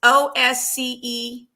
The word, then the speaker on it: Osceola: It's Osceola County.